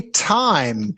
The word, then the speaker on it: Tim: All right, so when it's Tim, the I is very short, Tim, right? Yes. But when I say this, time, Time. this is it's longer, right?